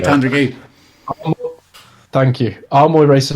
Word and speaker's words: Tandragee: Pronounced that right. Well done. That word. You said it right, Tandragee.